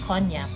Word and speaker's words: cognac: bar everybody knows that you have to say it cognac although the spelling is cogna bottom line is that